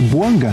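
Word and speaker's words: Bouanga: E tá certo a minha pronúncia. É Boanga que fala, né? Boanga.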